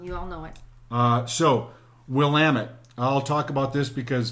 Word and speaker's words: Willamette: So Willamette is Willamette, and the way you remember it is, it's Willamette, damn it. It's Willamette, damn it. Right, not Willamette. Even though I think it should be pronounced Willamette.